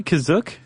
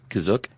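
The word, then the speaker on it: Kashyyyk: or Wiki Planet C is that how you say kazuk that's how it's pronounced in the episode the holiday special but it's also pronounced different ways other times to pronounce that cashier gotta spell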